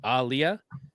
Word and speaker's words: Aaliyah: Muhammad Ali, so it's Alia, but like a hard emphasis on the A.